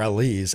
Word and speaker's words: Alize: Nixon Newell, Miranda Alise, or Elise as it's pronounced correctly.